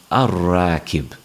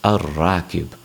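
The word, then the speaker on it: الراكب: So when we have al followed by the word rakib, we don't pronounce the lam and it's pronounced ar-rakib.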